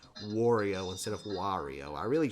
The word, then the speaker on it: Wario: I've been trying throughout this video to say it the correct way, which is Wario with a ah sound, because he's always saying why. I tend to pronounce his name as Wario, kind of like Oreo cookie, or like make love not Wario.